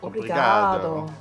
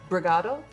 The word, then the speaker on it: obrigado: Obrigado. Obrigado. It's like thank you. Obrigado. I do say that a lot. Can you say apostrophe brigado?